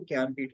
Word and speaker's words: ज्ञानपीठ: Actually ज्ञानपीठ यहाँ पे लिखा है JNAN, बट इसको लिखते ऐसे ही है, लेकिन जब प्रोनाउंस करते हैं तो वो ज्ञानपीठ हो जाता है, ठीक है?